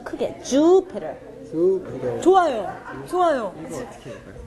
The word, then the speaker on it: Jupiter: 아, 주피터. 이거 주를 좀 더 길게 하시면 돼요. 네, 주피터.